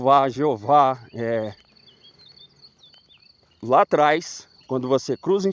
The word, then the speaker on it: יהוה: que o nome é Jeová, lá atrás, quando você cruza informação, a pronúncia do nome na caverna 4 é Iau, né, no grego.